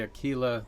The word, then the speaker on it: Aquila: to try to say aquila that's close to the italian or the spanish pronunciation of the word and so it means